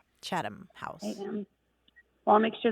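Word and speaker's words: Chatham: not agree to the chadam house rule right you'll be spreading the the term next thing you know yeah and that's chadam c h a t h m chadam house well I'll make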